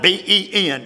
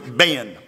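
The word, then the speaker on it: בן: It is spelled B-E-N in Hebrew. Ben.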